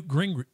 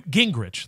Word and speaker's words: Gingrich: quote from I believe N gring n Oh god I'm saying that's totally wrong. I got to look it up now. N uh N Gingrich. There it is. Almost dyslexic in how I mispronounced that.